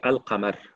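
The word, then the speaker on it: القمر: Mais quand je dis Al-Qamar, est-ce que je prononce la lame ou non?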